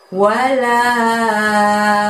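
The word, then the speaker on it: ولا: Kita belajar ayat yang keempat ini, kita lihat ada lafadz wala, la-nya panjangnya 5 juga ya.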